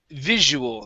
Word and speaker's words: visual: And the last one for you is visual. Okay. So this is going to be a Z sound in the middle.